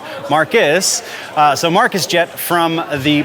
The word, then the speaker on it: Marquis: Because it's written as Marquis, but it's pronounced Marcus.